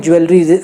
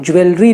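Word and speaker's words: jewellery: से सुनते कि मैं क्या करती हूं मैं ज्वेलरी डिजाइन करती हूं ज्वैलरी डिजाइन नहीं होता है इस ज्वेलरी डिजाइन ज्वेलरी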